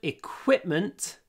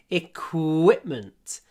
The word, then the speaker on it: equipment: equipment there is good equipment in the gym remember Q is equipment equ qu pronounce it with an open mouth qu qu not qu